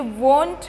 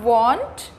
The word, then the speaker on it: won't: ये want भी नहीं है, ये won't है। इफ़ you mind the pronunciation you will be clear about this. It इज़ नॉट want, इट इज़ won't, W-O-N-T, won't।